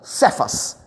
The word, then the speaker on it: Cefas: É, o nome de Simão era Simon ou Shimon Sefas. Era o nome mesmo que Jesus falava, né, essa pronúncia. Shimon Cefas.